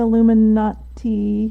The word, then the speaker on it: Illuminati: Is he going to be able to stand against the Illuminati?